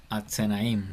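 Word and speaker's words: אזניים: Atsenaim, exactamente. Atsenaim. Y ahí se pronuncia porque tenemos vocal larga.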